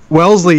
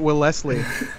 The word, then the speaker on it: Wellesley: Compton other people cause wellesley yeah why everything stupid over here when I first moved here I when I first moved here I called it well Leslie and then Ricky was like it's Wellesley I was like well